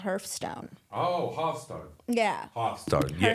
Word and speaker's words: Hearthstone: got an E in it, you're correct, but it's Hearthstone. Yeah, Hearthstone. it's like you sit by the hearth. It's the stone within the hearth.